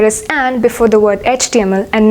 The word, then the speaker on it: HTML: Why do you think there is an before the word HTML and not a?